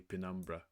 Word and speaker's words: penumbra: Ba is bathe is bathe is the bodies dark glow producing a dense penumbra in English they say pinumbra penumbra that envelopes the All right.